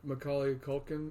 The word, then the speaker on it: Macaulay Culkin: Yeah, Macaulay Culkin.